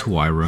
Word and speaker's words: Huayra: Herra. Her. How do you say it? It's Hayira.